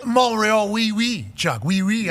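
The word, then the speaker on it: Montréal: were you in montree they don't pronounce the tree the the T when you in Montreal last night mreal we we Chuck we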